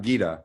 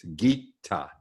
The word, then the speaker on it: Gita: It's not Gita, it's Gita.